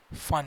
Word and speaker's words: Pfund: and it is written as BRACKETT, bracket series, and the next one is fun series, and it is spelled as PFUND, fun series.